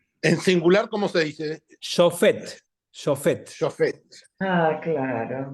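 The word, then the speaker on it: שופט: Shofet.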